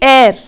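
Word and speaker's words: heir: See, air, H-E-I-R, H is silent.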